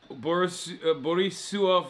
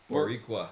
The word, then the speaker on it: Boricua: Borisua for life. Am I saying it wrong? Oh. How do you say it? Boricua. Boricua for life.